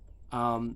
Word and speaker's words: om: spiritual power when spoken just like the word um um which most people mispronounce as om it's not om it's and that is